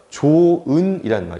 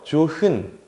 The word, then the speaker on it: 좋은: 탈락하는 현상이에요 예시를 보면 조은이 있죠 자 좋은 같은 경우 잘 보세요 조흔 혹은 뭐 조화해 이렇게 안 하지 이런 식으로 탈락하는 말이